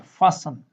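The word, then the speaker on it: fasten: टी, टी कहाँ silent रहता है? फासन। यहाँ हम एस के बाद में टी आया है तो इसको हम क्या बोलें? फासन। हाँ, अगर यहाँ तक वर्ड आता है तो फास्ट होता है ना, लेकिन इस वर्ड के अंदर ये यहाँ पर टी साइलेंट है, इसको बोलते हैं फासन।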